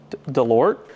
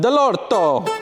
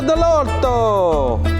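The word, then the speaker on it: Dell'Orto: l o r t delort no it's it's Italian it's Italian like doesn't know with the end of that Dorado delorto it's a delorto hey so running plli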